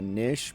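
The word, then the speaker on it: knish: I think that's basically what the kesh was. Damn it, now I'm pronouncing with the hard K. Basically what a nish was.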